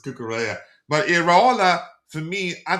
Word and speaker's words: Cucurella: Um I used to say Cucurella and he says it's Cucurella.